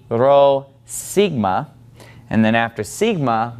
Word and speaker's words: Rho: to get used to pronouncing this as an R sound and not as a piece out and just keep